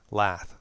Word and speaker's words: lath: Lath. That's right. Rhymes with math.